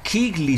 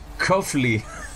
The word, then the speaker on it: Keighley: Ah, Keighley se pronuncia. Yo decía Coughley.